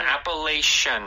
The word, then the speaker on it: Appalachian: yes so this word appalation Trail so in Korean we talk yeah so in English this last part the CH like you said with an a sh sound appalation right that's also how